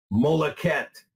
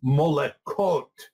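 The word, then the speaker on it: מלכת: that the word is, at least in the Masoretic pronunciation, Molechet, Molechet, which if we look at it in a non-Masoretic pronunciation, it's Molechot.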